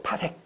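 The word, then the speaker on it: 파섹: 그 다음에 이제 또 나오는 게 뭐가 있냐면, PC라고 쓰고요. 파색이라고 읽어, 파색. 파색. 그지? 파색.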